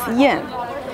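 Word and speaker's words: 燕: Pronunciation of the swallow in Chinese is Yan, and the ancient name of Beijing was Yanjing.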